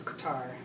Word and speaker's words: Qatar: east i went to qatar which i think they pronounce a cutter is qadar i went there